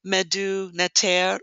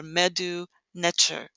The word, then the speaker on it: Medu Neter: The name of the language, or the original indigenous name that the people called their language, was MEDU NETER or MEDU NETER. It can be pronounced either way.